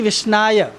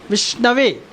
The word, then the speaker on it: विष्णवे: भगवान क्या कहलाते हैं, कहा गया है शास्त्र में, विष्णु पुराण में कहा गया है कि पंडितो वदति विष्णवे, मूर्खो वदति विष्णाय।